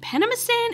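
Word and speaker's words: Penamstan: panama stan panama stan panama stan is how you say that they've made up a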